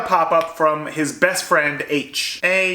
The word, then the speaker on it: Aech: from his best friend h a e c h but pronounced like the letter H we find out that